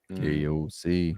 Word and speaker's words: KOC: KOC. KOC rhymes with cock.